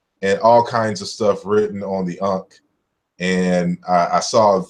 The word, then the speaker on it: ankh: in English as an that's not how the ancient Egyptians pronounced it but us in English